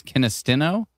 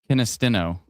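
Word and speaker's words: Kinistino: Oh, it's kinstino. So, it's not kinisto.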